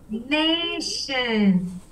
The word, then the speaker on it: nation: Nation. Come on. Nation. Write me down nation. Why does it sound sh? Nation. Nation. Nation. Nation. I'll still spell it. It's N-A-T-I-O-N. Absolutely. So Nate and then Shun, T-I-O-N.